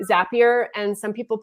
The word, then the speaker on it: Zapier: yeah what i heard i think it rhymes with happier zapier makes you happier